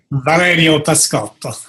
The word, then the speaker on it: Valerio Pascotto: I'd like to welcome everybody to this video interview with Valerio Pascotto. Did I pronounce that right? Very close, yes. Very close. You say it. Valerio Pascotto. All right, with the Italian accent.